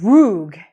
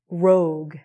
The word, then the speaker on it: rogue: with me pronounced it rogue, which, but it's rogue. So he said the U, which is cool, but he didn't say the E.